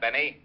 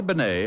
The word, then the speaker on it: Bennet: dead a guy named Benet auto accident Renee Benet yeah I guess that's the way you pronounce it you see Otis your Mallet head you were wrong it's pronounced Ben not Benny that idiot was calling